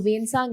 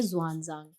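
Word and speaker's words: Xuanzang: एक चीज ध्यान रखना जो वेन सांग है उनको ऐसे भी प्रोनाउंस किया जाता है जवान जांग तो प्लीज स्टार मार्क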